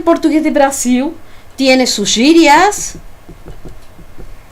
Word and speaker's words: gírias: Gírias, fíjense cómo pronuncio esa palabra, la G. Gírias, antes que veamos el alfabeto, ya nos vamos adentrando.